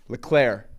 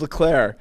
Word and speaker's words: Leclerc: and then catches uh leclerc leclair actually that's pronounced next thing catches leclaire uh right uh shortly